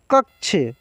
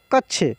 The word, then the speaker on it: कक्षा: और बोलने भी आएगा कक्ष क्या है कक्ष सॉरी कक्ष नहीं कक्ष क कक्षा कक्षा इसको क्या बोले कक्षा और एक जो